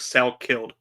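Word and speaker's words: Salkilld: Salkid? Yeah. Dogfather actually kind of hit it. It's like Sal killed. Sal killed.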